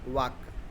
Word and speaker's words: walk: उसको we write वाल्क, WALK, बट वी, हम लोग पढ़ते क्या है इसको, वॉक, understand, वॉक। Hair L is silent, understand, L is silent, remember it well, L is silent.